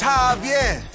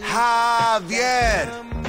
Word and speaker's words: Javier: Javier! Bitch, you don't get it. It's Javier. It's pronounced like an H. Javier.